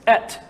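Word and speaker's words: את: And if you were to pronounce the Aleph and Tav, it's Et.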